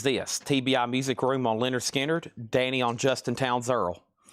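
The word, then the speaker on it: Lynyrd Skynyrd: Also, Leonard Skinner, pronounced Leonard Skinner.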